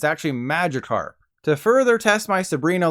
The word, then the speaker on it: Magikarp: little fish that evolves into Gyarados isn't called Magikarp it's actually Magikarp to further test my Sabrina like psychic powers